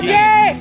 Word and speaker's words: Keen: He's pretty keen. And Keen, right. of course, rhymes with green.